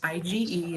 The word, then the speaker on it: IgE: to be confused with governor ige this is pronounced ige and it's an antibody that we all produce